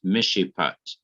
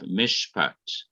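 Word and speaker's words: מִשְׁפָּט: a simple shawa but it is not pronounced because the rule is as shiva is silent when it ends or closes a syllable in the middle of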